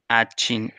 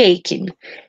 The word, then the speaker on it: aching: And the correct pronunciation is like headache.